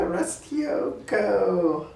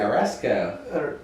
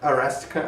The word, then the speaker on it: Aresco: Next question, it's from you, Restioko. All right. Is that how you say it? Aresco. Well, it's but you put a T in there. So it's like the word arrest, and then it's co. Aresco.